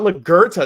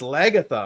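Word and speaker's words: Lagertha: Jesus, no, it's not Lagerta. It's Lagatha.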